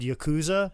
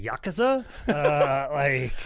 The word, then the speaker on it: Yakuza: Just say it with confidence, much like everybody said Yakuza for years, and then turns out it's the Yakuza.